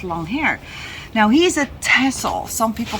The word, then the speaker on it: Texel: here they call him Texel but in Holland we say tessel because it's how we pronounce the island as well that's just a little